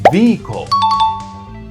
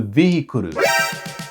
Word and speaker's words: vehicle: The correct way to say it is vehicle. Vehicle. Don't stretch it into vehicle. Keep it simple and light.